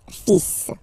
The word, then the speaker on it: fils: So it's le, and then even if you've got this L, well, basically you don't pronounce it, and then strangely you pronounce the final S. Le fils.